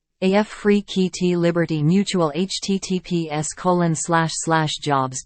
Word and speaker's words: Afrekete: African work at home jobs pronounced AF free KEYT Liberty Mutual https colon